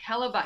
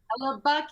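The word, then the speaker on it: Hellebuyck: Hella Buck say his name. Hella Buck.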